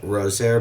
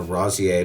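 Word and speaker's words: Rozière: And in Europe, I found a pressurized manned capsule with a giant Rosier balloon, or Rosier balloon, I think is how it's pronounced.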